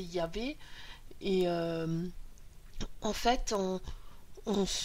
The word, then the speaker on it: Yahvé: Le Yod est présent dans le tétragramme divin, à savoir chez les Hébreux, ils ne le prononcent pas. nous on n'est pas hébreu, donc je vais vous le dire, c'est Yahvé.